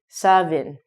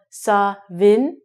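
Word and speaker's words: Samhain: is a Celtic word it looks like it should be saying ham but it's actually sobbing now there's been some debate on is it Scottish Gaelic is it Gaelic I honestly do not speak Gaelic and I've just looked on the internet apparently it's called saw Vinh sometimes it's called so in I don't know just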